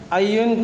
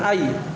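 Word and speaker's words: أيٌّ: Ayyun cara bacanya tasdid ya. Ayyun. Bukan ay.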